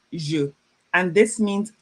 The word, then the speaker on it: je: It's pronounced je.